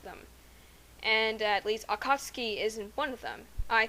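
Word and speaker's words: Akatsuki: episodes of Naruto chutin I realized that the U is silent so therefore it must be pronounced akatski and if you think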